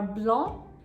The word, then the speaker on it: blanc: The correct pronunciations are blanc, vin, and son.